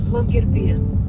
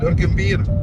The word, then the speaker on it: Longyearbyen: How you pronounce the name of the town? Longyearbyen. Longyearbyen.